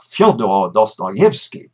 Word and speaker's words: Fyodor Dostoevsky: of Russian names by capitalizing the stressed syllable in all those names. So it's Fyodor Dostoevsky, which is a great little help, but I hope it doesn't get in the way later on.